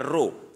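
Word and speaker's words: Ρ: tulisannya X dan kemudian P itu bacanya Ro Jadi Q ro ada yang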